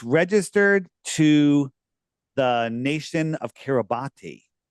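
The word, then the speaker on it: Kiribati: it said it's registered to the nation of Kiraabati. Interesting. Registered to the nation of Kabat. It's pron people yell at me. It's spelled K Carabati, but it's pronounced Kabos.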